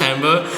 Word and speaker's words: timbre: Is it timber or timber? Okay, actually, I'm pretty sure it's pronounced timbre.